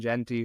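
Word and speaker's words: Gentry: get say it wrong is it J Genty Genty yeah Ashton Genty ashon jenty who's like balling out right now up there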